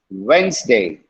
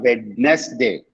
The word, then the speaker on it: Wednesday: you will make mistakes it's wednesday wednesday not wednesday okay wednesday okay let me tell all